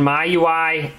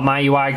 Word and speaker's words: MIUI: link in the description my UI I don't I believe that's what it's how it's pronounced no one really knows for sure I call it my UI cuz my user interface so that's kind of what I call it sometimes I call it Mi UI I've heard it called